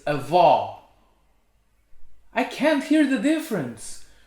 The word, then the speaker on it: avó: it's pronuncia he pronounces grandfather is vo but grandmother is a vaw i can't hear the